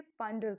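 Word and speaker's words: ponder: हैं हम इसे, और प्रोनाउंसिएशन तो इसकी बिल्कुल हम पॉन्डर ना करके पांडर करते हैं इस तरीके से।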